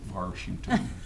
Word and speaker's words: Washington: And yes, I do pronounce it Washington, as do probably 95% of the people that grew up in D.C.